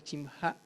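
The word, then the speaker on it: שמך: tu nombre se pronuncia chimja. Se agrega la terminación ja al final y él nos enseña en el Padre Nuestro a santificar el nombre.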